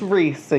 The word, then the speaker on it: Riese: This is Risa, you guys. Her name is spelled Riese, and it means giant in German, and it's because her